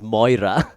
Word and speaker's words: Moria: of Moria is that the way they're spelled, Moria, right? And in Scottish, we would pronounce that as Moira, right?